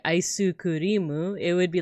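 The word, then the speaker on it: アイスクリーム: So ice cream with like a Japanese accent would be aisu kurimu.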